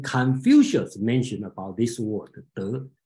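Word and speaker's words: 德: Same word, and then they all remember Tao Te Ching in Chinese word, if you recognize Chinese word called De, okay, the pronunciation is De.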